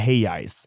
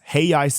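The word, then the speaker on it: reais: So 1 USD is five heis. Hey ice is spelled R A E S, right?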